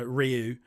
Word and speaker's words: Ryu: for your generation I'll say it properly uh Ryu he's remaining in Street Fighter um and uh